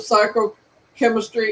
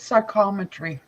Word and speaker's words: psychometry: future the concept of psycho chemistry is a I don't know if I'm saying the name right am I saying it right you guys it's psychometry psychometry okay psychometry is a popular